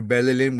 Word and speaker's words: Belilin: And this um particular uh conjuration, the mantra Belilin was given to Master Samael by the angel Arock. Okay? And you pronounce it like this. Belilin Belilin